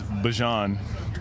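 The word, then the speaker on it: Bijan: How you pronounce my name is Bjon for everybody that's that's out there.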